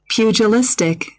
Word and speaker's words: pugilistic: Your word of the day is spelled P-U-G-I-L-I-S-T-I-C, spelled P-U-G-I-L-I-S-T-I-C. Pugilistic.